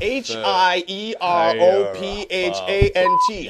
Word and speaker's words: Hierophant: high arent green meod green no no it's pronounced High arent green high arent h i e r o p h a n t High arof fend green no no shut up